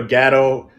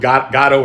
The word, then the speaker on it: Gatto: it i mean i i'm even willing to change the pronunciation of my last name so we can go uh may we do a gato envato tequila because i don't think you want to go with godo and vado but you know uh